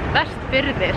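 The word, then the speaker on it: Vestfirðir: Westfjords is like an English word. This thing is called Westfjordir in Icelandic.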